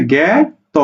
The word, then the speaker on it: জ্ঞাত: জ্ঞা, ত করে তো, জ্ঞাত।